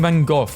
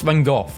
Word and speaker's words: Van Gogh: American saying Van Gogh is pronounced Van Gogh. British saying it's pronounced Van Gogh. It's a Dutch name, and Dutch pronounce it as Van Gogh. No! It's pronounced Van Gogh in Dutch.